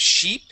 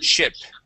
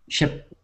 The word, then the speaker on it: ship: ship okay we're gonna use the short I sound instead of sheep it is ship ship okay one more time